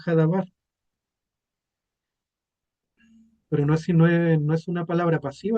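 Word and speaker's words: הדבר: El verbo también dice, el verbo fue hecho carne y la palabra verbo en hebreo es se pronuncia dabar o hadabar, el verbo.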